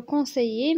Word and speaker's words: conseillers: ال هنا ميي ما كيتنطقوش، كنقولوا conseiller ماشي conseiller ولا شي حاجه، كنقولوا conseiller.